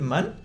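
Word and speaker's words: Manne: Si dice Kate Mann, Sí. qué ironía del destino, weón, que una filósofa feminista se pronuncie ese apellido.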